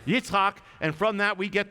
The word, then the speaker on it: Yitzhak: sense his name is Yitzhak that's how you say it in Hebrew Yitzhak try it it's not an easy one Yitzhak and from that we